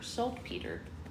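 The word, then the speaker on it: saltpeter: peter is morning Avery it's spelled s a l t p t r like the name Peter salt peter apparently the spell requires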